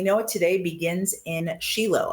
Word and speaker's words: Shiloh: it today begins in Shilo. I use the Hebrew pronunciation versus Shiloh.